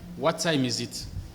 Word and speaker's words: what time is it: times à ce moment là vous allez dire what time is it what time is it alors si c'est vous